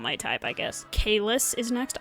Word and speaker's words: Caelus: I guess it's pronounced Caelus. I was saying Caelus for like the first year, I think, and then I heard someone say Caelus, and I was like, oh, is that how they say it? Oh. Because I was going based off the Latin pronunciation, because fun fact about